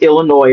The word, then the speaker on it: Illinois: understand that there's no the s on Illinois is silent D is not spelled